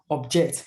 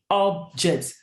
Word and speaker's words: object: Now, if you know that this one is a noun, the stress will surely be on the first part of the word, which is the first syllable, which is up. So up, object. It's not object.